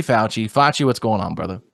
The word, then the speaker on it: Facci: Ooh, they call it Facci around here. Life is good. You were telling me before we did this podcast today with our guest that there's been other mispronunciations of your name. There was never Fauci before COVID happened.